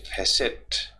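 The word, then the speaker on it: facet: गया ये, एज ए फैसेट, T silent रहता है इसमें, ये ध्यान रखिए, तो इसको फैसे ही बोलते हैं, एज ए फैसेट यानी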